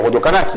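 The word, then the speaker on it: Rodocanachi: Comment, Rodo Kanaki, si on met l'accent, on va dire Rodo Kanaki, d'accord? Comme on va dire Mempenti. Moi, ma grand-mère, je lui dis, mamie, essaye de dire Mempenti sans l'accent.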